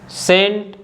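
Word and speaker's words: scent: after the letter yes अगर letter सी सस के बाद आता है तो सी को हम नहीं बोल बोते जैसे कि muscle सेंट सिनेरियो साइंस discipline तो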